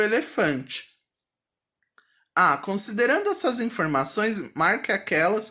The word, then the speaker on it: elefante: Já vou aproveitar para dizer que elefante é uma paroxítona. Sílaba tônica mais forte é a penúltima.